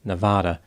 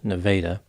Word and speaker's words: Nevada: miles Southwest of Clinton the town's name is spelled like Nevada but apparently it is pronounced Nevada a 30 year old woman named Cheryl Ann